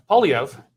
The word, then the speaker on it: Poilievre: Poilievre is making some pretty big promises too, and conservatives, at least in significant numbers, are believing what he has to say.